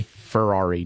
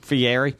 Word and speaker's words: Fieri: do you say that it's the Airy Ferrari no Fieri I would much rather